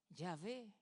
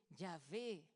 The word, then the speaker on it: Yahvé: No sabemos muy bien cómo se pronuncia porque en el tiempo se perdió la pronunciación, pero sabemos que sonaba más o menos así, Yahvé.